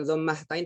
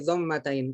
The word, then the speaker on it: dhammatain: Sedangkan dhammatain nggak dibaca hak, bukan dhammahtain tapi dhammatain, kasroh sama kasrotain gitu.